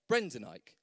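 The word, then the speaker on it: Brendan Eich: this man covered denier brendanike so one ike and the other one e i c h easily done obviously so same phonetically if you want to learn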